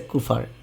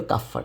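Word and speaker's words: Kupffer: এই ম্যাক্রোফেজ কে বলে কাফফার কোষ বা কোথাও লেখা আছে কুফার উচ্চারণটা যদিও কাফফার এটাই সঠিক ওকে যকৃতের অনেক কাজের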